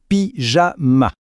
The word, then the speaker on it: pyjama: Il faut juste faire attention à la prononciation. On entend bien le son J, pyjama.